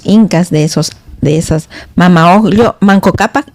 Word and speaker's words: Manco Cápac: En mi pueblo decimos Manco Cápac con K y Mama Oglio, ¿no?